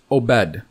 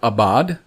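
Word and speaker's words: עבד: The word in OBRY is obed. Jubru pronounces it abad.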